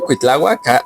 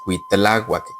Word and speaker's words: Cuitláhuac: Por eso dicen que la pronunciación no es Cuitláhuac, que es Cuautláhuac.